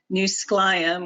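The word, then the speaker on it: Skwxwú7mesh: shared lands and waterways new skelion which i tried to spell out phonetically is how you say squalam in our traditional language and the scotlands are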